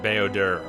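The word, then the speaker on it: Bao-Dur: if we bring B I say bowder I guess some of the characters pronounce it boder I'm probably going to keep saying boder it's stuck in my head at any rate uh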